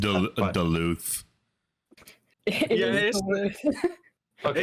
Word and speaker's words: Duluth: mispronounced that, but- Duluth.